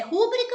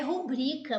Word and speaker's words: rubrica: exemplo da acentuação gráfica afinal de contas é rúbrica ou rubrica não é ah a palavra é rubrica por isso que ela